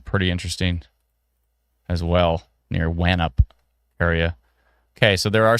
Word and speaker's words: Wanup: Oh, Wanup? Wanup is the pronunciation? Wanup or Wanup? I think that's Nup. Wanup? Wanup is the pronunciation.